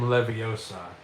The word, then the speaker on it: Leviosa: Um they say it's not when guardium leviosa it's when guardium levio saw and the reason is because it's split into three different um it's three syllables right not two syllables so it's wardium leviosa